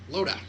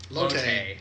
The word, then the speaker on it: Lotte: Loda. Loda? Lotte. Is what they... Yeah. Her name is spelled weird for how I would spell Lotte.